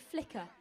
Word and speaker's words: Fleeka: We're going to pronounce it Flicker.